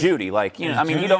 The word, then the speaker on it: Jeudy: Wait, Jerry Jeudy is Judy, he don't spell it like Judge Judy, but Judy.